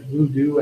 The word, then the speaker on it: voodoo: Bush, VOO, blank, VOO, rhymes with who, that's right, voodoo economics.